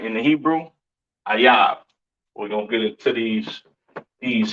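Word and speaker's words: אויב: Ayab. Okay. That is how you pronounce enemy, all right, in the Hebrew. Ayab.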